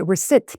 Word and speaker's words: receipt: 이렇게 하실 텐데 일단 발음이 receipt, P는 묵음이니까 receipt 잘 해주시고요.